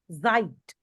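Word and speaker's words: Zeit: this s e t it is pronounced as Zite Zite Zite yeah Gori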